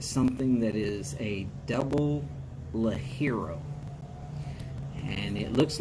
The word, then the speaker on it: ligero: that you find something that is a double la hero and it looks like it's ligero but it's pronounced la hero a very good strong hopefully you'll be able